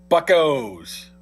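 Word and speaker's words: Buccos: And by the way, it's pronounced buckos.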